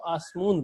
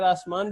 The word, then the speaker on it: آسمان: اس طرح درمیان میں، وہ عام تلفظ میں اس کو آسمون پڑھتے ہیں، اگر آسمان بھی پڑھیں تب بھی حرج نہیں ہے، کوئی مسئلہ نہیں ہے، لیکن وہ اس کو آسمون پڑھ رہے ہوتے ہیں۔ اس جس طرح نان